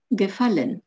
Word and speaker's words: gefallen: фольмер книги мне нравятся gefallen ударение на корень слова das bild be held